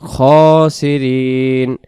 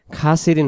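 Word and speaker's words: الخاسرين: ওইলাম তাফিরলানা ওতারহামনা ওয়াতারহামনা ওয়াতারহামনা লানাকুনা লানাকুনান্না মিনাল খসিরিন মিনাল খসিরিন খাসিন হবে না উচ্চারণ খসিরিন কারণ খ জবর খারা জবর এক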